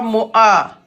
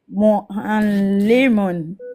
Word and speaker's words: معلم: C'est pas Mo'a. Mo'a. Mu'allimun. Appuie encore, va le chercher. Mo'a. Mu'allimun. C'est mieux. D'accord? Il faut aller chercher la lettre Aïn.